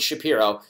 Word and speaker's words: Shapiro: order using promo code Shapiro that's sha Piro Mac Weldon is spelled